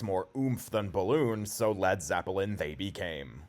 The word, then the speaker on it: Led Zeppelin: oomph than balloon so lad Zeppelin they became they removed the a from lead to ensure people specifically American listeners wouldn't mispronounce it as lead Zeppelin and the rest is